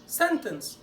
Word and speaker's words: sentence: اخر مثال الكلمه المشهوره sentence. طيب المقطع الاولاني التي كانها مش موجوده، والاي ان سي اي تبقى ان والسي. انس انس سن انس.